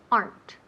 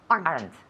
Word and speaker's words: aren't: good so let's repeat aren't you know they're aren't aren't aren't one syllable or two syllables yes one one sorry there aren't aren't